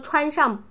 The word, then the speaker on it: 穿: 把 뭐뭐 穿上, 把 빠뜨리지 마세요. 연결해서 쓰는 문법. 把外套穿上. 뭐뭐 하세요. 뭐뭐 입으세요. 把外套穿上. 또 한 번. 把外套穿上. 穿, 이 발음. 穿, 저 입술 잘 보세요.